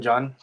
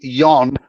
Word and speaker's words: Jon: jack jake john or john no it's a pronunciation john oh yeah because i saw my name yeah i spelled my name jon and people have been calling me yawn for years because i have an accent or